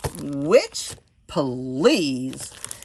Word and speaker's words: Which Please: It is Which Please. And as you can see, it says which, comma, please. All right, so it's supposed to be like bitch, please, but it's which, please.